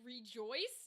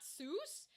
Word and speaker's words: Seuss: But uh Dr. Seuss pronounced his last name like Rejoice, not Seuss.